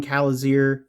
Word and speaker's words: Kalizirr: I think the only thing that like I might have wanted from this too would actually, since it is on Kalizirr, yeah, I said it right finally.